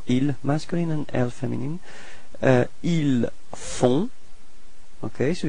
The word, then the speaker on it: ils font: Ils font. Okay, so you've got this nasal on, on. Okay, and then the final T is not pronounced. So ils font.